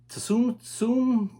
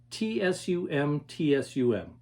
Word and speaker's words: Tsum Tsum: like i said spelled t-s-u-m-t-s-u-m not sure to pronounce it i'm gonna say tsum tsum they came out with